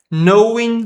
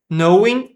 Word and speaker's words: knowing: Esse K a gente não lê. Knowing secrets. Secrets. Knowing. Também não lemos esse G.